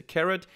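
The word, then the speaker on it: carat: I just Googled it it's pronounced carrot so we're going to plot the price against the carrot and we're going to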